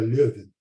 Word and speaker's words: Leuven: que é Louvain também, mas é o Louvain holandês, então é Leuven. Tá? Apenas a forma como se escreve é um pouquinho diferente, a pronúncia também.